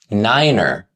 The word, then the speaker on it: niner: Next comes 6, 7, 8, niner. 9 became niner to eliminate confusion with the German word nein, meaning no.